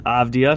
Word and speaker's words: Avdija: I just learned how to pronounce his name this year. Avdija.